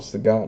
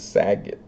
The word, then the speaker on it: Saget: Also, I try to call him Sagot now that I know that that's how you're supposed to pronounce it instead of Saget.